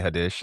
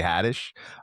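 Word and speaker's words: Haddish: He actually did just sound like an old man pronouncing her name Tiffany Hades. It's Tiffany Hadtish.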